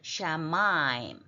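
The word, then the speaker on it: שָׁמַיִם: 오세 다음에는 샤인의 점이 오른편에 붙었으니까 sh 발음을 해야 돼. 샤마임.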